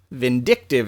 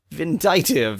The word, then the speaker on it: vindictive: Vindictive is the word I was looking for. Vindictive. Vindicative, if you don't know how to pronounce words, but know how to pronounce indict.